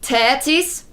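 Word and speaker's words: Θέτις: That's how it's Well, in ancient Greek, in like Attic Greek, it would be pronounced tetis, probably something like that.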